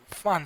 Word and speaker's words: Pfund: and it is written as BRACKETT, bracket series, and the next one is fun series, and it is spelled as PFUND, fun series.